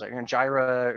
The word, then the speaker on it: Jira: lot of these tools gyra or jira depending on how you pronounce it is the arguably the